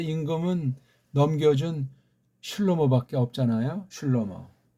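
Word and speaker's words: שלמה: 다윗이 살아있을 때 임금은 넘겨준 슐로모밖에 없잖아요. 슐로모. 이걸 솔로몬 하는 건 이건 서양 아이들 식이고, 구약에 있는 발음을 정확히 아는 자 없을지라도 모음보라든가 읽기를 표시한 애들의 그것을 참고한다면 슐로모가 맞습니다.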